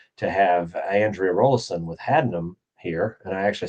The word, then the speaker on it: Haddenham: And I'm very happy today to have Andrea Rollison with Haddenham here, and I actually said it right.